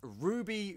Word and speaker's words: RWBY: named after even though it's spelled rwb why is Ruby Rose milk what's Ruby